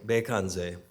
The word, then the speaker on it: Bekandze: I wanted to begin this event by chanting the Medicine Buddha mantra, which in Tibetan Buddhism, the Medicine Buddha his name is pronounced Bekanze.